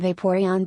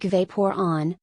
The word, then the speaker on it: Vaporeon: I heard Caillou being pronounced like Kaylu and Vaporeon being pronounced like Vaporon, so therefore it is Stanley.